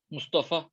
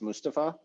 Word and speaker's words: Mustafa: mustafa yeah um so my wife made fun of me because she said the turkish name is pronounced mustapha and that i've been pronouncing your name wrong this whole time um so yeah if